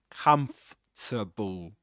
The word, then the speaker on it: comfortable: Okay, that's a kind of hack kind of, you know, tip or trick you can use to pronounce this word in this accent. Of course, comfortable.